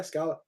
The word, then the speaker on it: Skala: and today i'm here to join with scala did i pronounce it correct yeah scholar perfect so how you doing today i'm